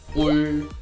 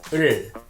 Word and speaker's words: 을: Many people pronounce object particle in wrong ways, like 울, 룰, or ol, lol. They are wrong.